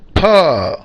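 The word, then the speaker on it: pá: इसकी स्पेलिंग है पी और ए, लेकिन बोलेंगे फा। टोन इसकी बॉटम टू टॉप चलेगी।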